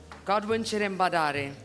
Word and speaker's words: Godwin Cherambadare: Godwin Cherambadare.